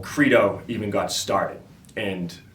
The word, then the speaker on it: Credo: There's no asterisk over the E where it's like an A. It's Credo. So stop calling it Credo. It fucking pisses me off. It's Credo. It's Credo, all right? It's a hardie, not a softie, so Credo.